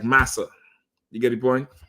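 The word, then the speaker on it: Marse: It's saying it's like saying massa, not master.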